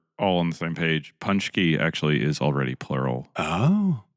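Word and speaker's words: pączki: I think it's punchki, but yeah. So the way that Polish people say it up here is ponchki.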